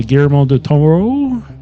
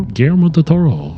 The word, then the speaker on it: Guillermo del Toro: Guillermo del Toro. Guillermo. Bob. I think you guys are putting a lot more stank on the Toro than you need to, but you're right.